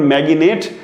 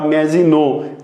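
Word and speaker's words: Maginot: এখানে ম্যাজিনো লাইনের উচ্চারণ ম্যাগিনেট অনেকে করে থাকে, ম্যাগিনেট বা ম্যাজিনো যেটাই বলেন সমস্যা নেই।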